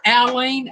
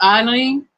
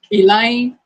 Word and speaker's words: Alyne: KT Spirit, my name is technically pronounced Aline, A-L-Y-N-E is Aline, but I grew up being called Eileen, like I lean on Jesus, you know, that way. Piggy pronounces it Aline. I'm like this. I don't care how you pronounce it as long as it's not Elaine. Don't want Elaine.